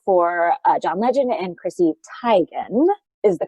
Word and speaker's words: Teigen: She also wrote on the Variety Christmas special for John Legend and Chrissy Teigen is the correct pronunciation, people.